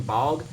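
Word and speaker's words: Baugh: cuz 2K has to add him but Damian bog uh I think that's how you say his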